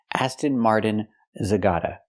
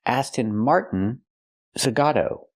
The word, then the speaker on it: Aston Martin Zagato: It's not pronounced Aston Martin Zagata. It's pronounced Aston Martin Zagato.